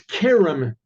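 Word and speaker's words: כרם: And if there's a point in the middle of the chaf when it's written, and it's not pronounced cher, it's pronounced ke.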